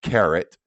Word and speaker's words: Karat: you to write down this uh website it's carrot because I know this is kind of small up here it's ka r a t that's carrot and then K and then the little hyphen